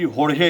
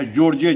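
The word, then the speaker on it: Jorge: बोली जाती है, तो उनका नाम था एक्सेलेंसी होर्हे हेने, लोग उनको कहता था जॉर्जे जेने।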